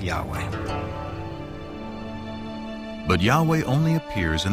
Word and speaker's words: Yahweh: English would be YHWH, which we think were probably pronounced something like Yahweh.